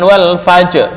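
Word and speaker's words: والفجر: Ee ada lagi kalqos wal fajri bukan wal fajr bukan tapi wal fajr. Wal fajr tipis. Wal fajri rnya tipis. Wal fajr berarti harus tetap kedengaran sedikit.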